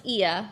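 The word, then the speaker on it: Oia: that um but yeah it's pronounced as IIA so um we are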